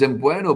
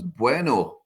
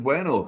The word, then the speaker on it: Mbueno: I've always pronounced it as Mbueno, but apparently he pronounced it himself as Bueno. Brian Bueno. So I thought it was Mbueno, but he's pronounced it as Bueno.